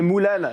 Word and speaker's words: Mulan: Mulan d'ailleurs tout à l'heure moi je disais Mulan mais vous vous prononcez Moulan.